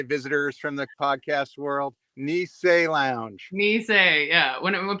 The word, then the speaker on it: Nisei: they'd been there lots of times and couldn't pronounce the bar's name so don't be that guy visitors from the podcast world niss Lounge niss yeah when when people are like oh Ness I'm like it's not Nestle Quick it's okay